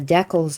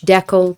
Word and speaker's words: decal: uh celtic celtic celtic basically whenever i pronounce a word two ways it's because i know that there are people who say it one like both pronunciations are used both are accepted some people get really